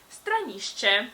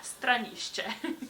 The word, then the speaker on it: stranišče: But if you want to know the Slovene equivalent, it is stranišče. So another tricky word with sh and ch, but yeah, stranišče.